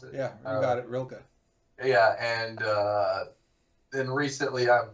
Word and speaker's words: Rilke: Um, and Bukowski, and then Rainer Maria Rilke. I don't know how you pronounce it. Yeah, you got it, Rilke.